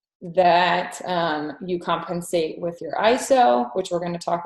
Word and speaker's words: ISO: So next portion, the ISO, or some people say ISO. I think the proper way to say it is ISO, like EYESO.